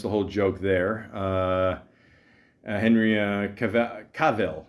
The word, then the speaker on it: Cavill: Henry Cavill. Is that how you say it? Cavill. Cavill rhymes with Jor-El.